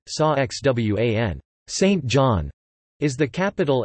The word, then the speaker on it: San Juan: San Juan, Spanish pronunciation, Sa Xwan, Saint John, is the capital and most populous